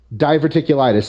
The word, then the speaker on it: diverticulitis: I apologize for that diverticulitis diverticulitis I kept saying it wrong and thank you very